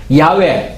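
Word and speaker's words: 야웨: 있는 하나님이라는 전능하신 하나님이라는 야외 야외 라고 하는 것이 영어에 하나님 여호와 라는 것에 원화의 뜻의 가까운 바람은 이 발음이 라고 이제 합니다 그 야외 바로 여의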